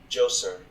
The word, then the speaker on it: Djoser: The correct pronunciation of this word is Djoser.